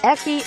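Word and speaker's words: ecchi: similar slang has eki because hentai's acronym h can only be pronounced eki by the japanese yet japanese people really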